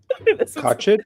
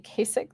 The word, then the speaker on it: Kachich: I've been saying Kasich this whole time.